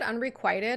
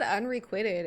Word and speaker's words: unrequited: Wait, you said unrequited? I've always said unrequitted. Am I saying it wrong?